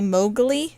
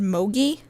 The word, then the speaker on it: Mowgli: And when I was little, I couldn't say Mowgli, so I said Mogi. And that's what my grandparents named their dog, was Mogi, because I couldn't say Mowgli.